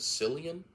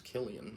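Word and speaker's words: Cillian: say Killian Murphy I I used to pronounce it San Murphy that's just rolls off the tongue better than Killian but I'm pretty sure it's Killian Murphy but yeah 28 Days Later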